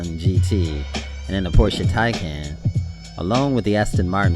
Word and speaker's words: Taycan: I mean, they're doing well with the Taycan, or Taycan is how you pronounce it.